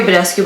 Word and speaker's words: Badescu: badescu acne facial cleanser Mario badescu by the way is pronounced badescu he was Romanian if yall don't know